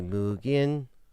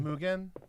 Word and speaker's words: Mugen: I know in Japan it'd be Muggin. Be pronounced a little bit different. Mugin. Like they say differently.